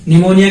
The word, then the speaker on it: pneumonia: निमोनिया की spelling P से start होती है। याद रखना इसमें पी साइलेंट रहता है।